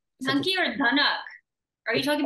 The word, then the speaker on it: Dunki: Dunki or Dunuk? Are you talking about Dunuk? No, Dunki. I'm like totally mispronouncing the movie, but I checked it with the executive producer of the show.